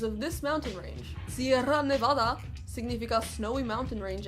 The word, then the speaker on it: Nevada: this mountain range cm Nevada significant snow a mountain range any less so supposing we use the authentic like intended pronunciation the state should be pronounced Nevada despite how obnoxious that